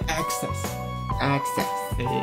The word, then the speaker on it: access: 我都念 access，就是也是很多人念那个可有点懒，